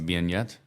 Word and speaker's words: beignet: Beignet? Beignets. Beignet. Uh-huh. Beignet. Beignet. I don't know. You pronounce it better than I do. That's French. Because French T is silent at the end.